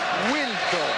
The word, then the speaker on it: Wiltord: Eric Bénard, il est allé demander à Sylvain comment il fallait prononcer son nom. Et Sylvain lui a dit Viltord.